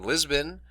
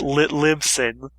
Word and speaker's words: Libsyn: You can also find us on Lisbon, and we are also on iTunes. And was there anything I'm missing from that list? How to pronounce the website properly? It's Libsyn.